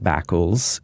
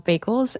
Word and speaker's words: Bakels: it's kind of like, it's not Bakels, it's like bagels, but with a K.